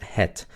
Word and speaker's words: het: La palabra het se pronuncia het. Pero cuando se habla rápido, esa e se convierte en muda.